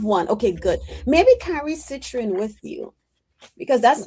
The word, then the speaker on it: citrine: Well, I know citron. Was it Citrine. citron? Yes, That's yes, citrine. I always say it wrong.